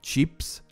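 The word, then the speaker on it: צ'יפס: is pronounced they tend they pronounce it more like cheaps jeeps and that is chips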